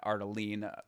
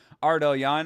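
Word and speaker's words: Ardelean: Shauna Bannon versus Alice ellion I guess is how you say her name not ardelene as I thought it was but ellan uh it doesn't matter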